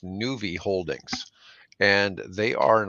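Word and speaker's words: Nuvve: And believe this company is pronounced Nuvi Holdings, and they are an electrical bus maker.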